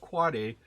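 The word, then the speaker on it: AAAA: the quad a the the four a's it's pronounced quad a that is the end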